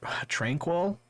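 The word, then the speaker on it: Tranquill: not participate in practice um drew trent uh tranquil is that how you say his name yeah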